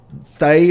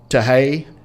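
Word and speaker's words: Thaye: The Thay or Tahei, as it might be pronounced.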